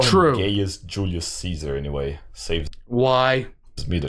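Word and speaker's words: Gaius Julius Caesar: to have ever lived his name was guos Ulus Kaiser and that's how you pronounce it but I'll call him gayest Julius Caesar anyway saves why me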